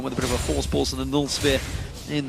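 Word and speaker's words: Voorspoels: For anyone that wants to know how to pronounce his surname, just say Force Pulse. Say it like you would say Kassadin with a bit of a lisp.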